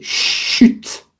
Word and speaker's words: chute: En savoir davantag entend distintement Robert qui s'est laissant très tomber sur son ban c'est impossible là faut prononcer le T chute. On prononce le T.